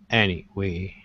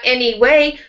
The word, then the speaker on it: anyway: I'm going to eat you anyway. Now, it will help you with that word anyway if you make your voice go down a little bit. After any, not any way, but anyway.